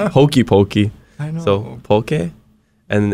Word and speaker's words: poke: Poke, not pokey, not Pokemon. Actually, it's closer than to Pokemon than it is to like hokey pokey.